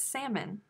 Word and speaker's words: salmon: salmon who does that the l is silent it's not salmon it's salmon are you french folks